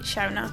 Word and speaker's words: Shonagh: It's pronounced differently if you have a different accent, if you're American or if you're somewhere else. But I pronounce it Shonagh.